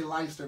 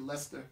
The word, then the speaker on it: Leicester: Americans say Leicester, but it's actually Leicester.